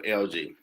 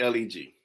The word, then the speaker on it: LEG: then, I called myself LG. I was in Latin, so it's I called it LG, but it was spelled LEG. My family like that say leg, like no, it's not. The E is silent.